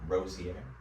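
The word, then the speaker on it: Rozier: Rosier.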